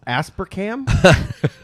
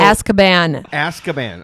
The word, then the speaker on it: Azkaban: Asparcam? So Azkaban.